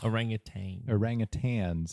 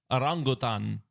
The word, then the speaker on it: orangutan: in red fur and do not have a g at the end of their names KD orangutan is correct why did you pronounce it so poorly yeah orangutan orangutan's favorite food is